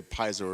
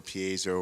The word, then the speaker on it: piezo: this right here is called a piezo or piezo or however you want to pronounce it there's so many different ways to go about doing that but piezo and this is a